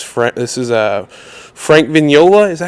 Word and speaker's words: Vignola: flare on it too venola like lasagna is correct that is correct Italian pronunciation but my family Americanized it a long time ago they've been vignola forever absolutely man I